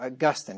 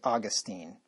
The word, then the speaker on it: Augustine: Nor is this heresy a modern thing, for it existed in the time of Austin, that is, Augustine, or Augustine is how you really pronounce his name. Most people say Augustine, the famous Catholic back in the 4th century.